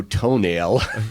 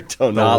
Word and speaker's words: Tonale: And why would you name a car that probably half the population can pronounce? Unless I'm the only one. Oh. Well, then there's the new Alfa Romeo Toenail. Or Tonale.